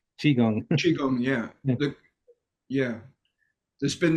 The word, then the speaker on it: Qigong: it's chiong not Kong chiong Chong yeah yeah there's been this standard standardizing of Chinese um words into English you know European letters so they use a q for some reason for that sound but yeah it's sometimes